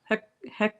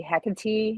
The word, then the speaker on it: Hecate: You can say Hecate, you can say Hecate. Some people say it differently. Some people spell it with a C. Some people spell it with a K. I don't think it matters. I don't think she cares on either. There's different pronunciations, different spellings. I spell it with a K, and I say Hecate. Or I can also say Hecate, or whatever comes out of my mouth, I think she's fine with.